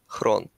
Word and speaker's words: Xron: be pronounced okay so really my name is pronounced Crone okay yeah but like